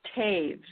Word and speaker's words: Toews: their own ideas but is your name to this or toast could you say it for us it's actually it's actually pronounced caves Wow cave